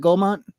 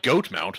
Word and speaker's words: Goldmont: Is it Goldmont? It's not Goatmount.